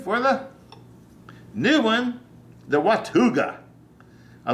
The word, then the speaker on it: Watauga: I'm saying it right w-a-t-a-u-g-a -w-a-t-a-u-g-a well would you how would you pronounce that I pronounce it watuga wakuga yeah watuga I